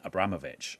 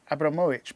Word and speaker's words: Abramovich: my pronunciation of that it's it's actually uh abramowicz because abramovic is a patronemic so boris berezovsky is patronemic okay she's the surname because you're named after your dad yeah yeah well i